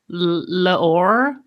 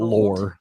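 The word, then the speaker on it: L'OR: French accent is terrible it's laor l okay we'll just call it lore for the that would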